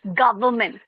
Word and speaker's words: government: And you're saying government, government. It's government. Okay?